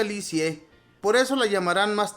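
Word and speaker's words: Lisieux: a un pueblo llamado liux se pronuncia licie por eso la llamarán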